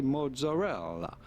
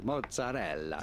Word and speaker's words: mozzarella: You'll be fine in English or American to simply say mozzarella, mozzarella. You do want to insist on the E real strongly, mozzarella.